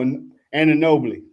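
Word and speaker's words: Anunoby: A no on a Bowie. Oh, and a nobly.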